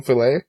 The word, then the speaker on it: filet: it was the same filet yeah I said Philip I think Phil it yeah and I was like what you know how that's pronounced that it's not pronounced to fill it yeah so I'm working